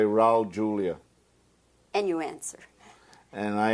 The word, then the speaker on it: Julia: It's not the H sound, it's not Julia. Well, Julia would be in Spanish. Julia is in Catalan. And my family has always pronounced it like they pronounce it in Catalan.